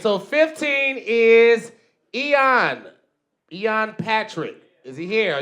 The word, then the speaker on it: Eoin: All right, so 15 is Eoin Patrick.